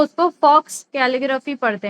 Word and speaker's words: faux: हम डिअ कह रही ओके तो हम इसको नहीं पढ़ते हम इसको फ पढ़ते हैं। ठीक है? ये आपकी मिस्टेक नहीं है। यह मोस्टली सभी की यही मिस्टेक होती है कि वो उसको फॉक्स कैलग्राफी पढ़ते हैं।